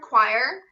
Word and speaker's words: choir: singing in the so it's almost like a c-w-a-h with a little bit of r right at the end choir is one of the